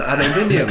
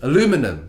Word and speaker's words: aluminum: Alright, and now we have an aluminium violin. Aluminum. Apparently it's aluminum. Oh my god. You know, it's not actually spelled aluminium. It's aluminum. It's Australians say it wrong.